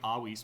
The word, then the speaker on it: avis: So bird is avis, but if you pronounce it Latin, it's supposed to be avis because you don't pronounce the V like that. You say it like a W.